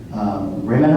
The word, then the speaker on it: Rimini: You'll correct me if I got the pronunciation wrong, but it's near Rimini.